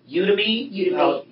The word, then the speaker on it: Udemy: The only other thing that and maybe it's not mature enough to ask, and I don't know how you pronounce it, Udemy? Udemy.